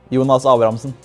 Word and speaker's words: Jonas Abrahamsen: Jonas Abrahamsen. Jonas Abrahamsen.